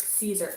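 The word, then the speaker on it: Siser: i think i'm wrong it's like caesar okay so the salad dressing we got it i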